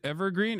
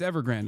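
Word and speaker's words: Evergrande: No, it's Ever Grand. I said it right. It's not Evergreen.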